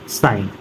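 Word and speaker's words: sign: एन से पहले जी तो डिजाइन रिजाइन campaign साइन next है एच कब साइलेंट होता है क रहा है जब ओ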